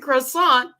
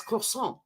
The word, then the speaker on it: croissant: nothing means nothing and I kept saying croissant with the T on the end he's like no it's croissant and I was like